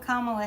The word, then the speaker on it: Kamala: And you know what about Kamala Harris is, here's how you say it. And I love this. It's calm. It sounds like C-A-L-M. Kamala. Bring calm with Kamala, right?